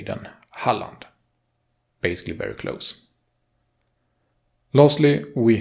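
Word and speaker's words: Halland: you should not Holly you should should say the a the same way as in lund oh but Holly will get you very close the to port should not sound separated like harlot lund but what will be said as one would say Holland so he would say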